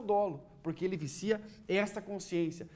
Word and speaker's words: dolo: em sala de aula Cuidado para você não falar dolo eu brinco sempre que alguns alunos falam dolo né Isso é uma pronúncia é questão de pronúncia simples mas policia não vai falar dolo é o dolo crime doloso que é